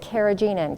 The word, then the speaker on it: carrageenan: msg or other excitotoxins carrageenan also some people pronounce it carrageenan carrageenan is uh it